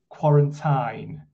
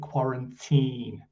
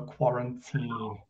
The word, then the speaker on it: quarantine: you said um quarantine um but it's we actually pronounce it quarantine so quarantine yeah i'm learning learning i'm learning the american pronunciation ah right so maybe they say it's uh quarantine in american then yeah